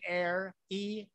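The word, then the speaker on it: Aeir: room my favorite band air e it's spelled a e i r like buenos aires it's good air so air is upstairs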